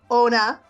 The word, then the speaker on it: Onna: please check out her book, Iris, Birth of the Immortals by Onna. Am I saying it right? You're Anna? not. Anna, like Frozen, like Frozen.